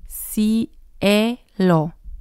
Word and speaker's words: cielo: But here the letter C sounds like an S. Cielo, cielo. And again, you can hear the vowels.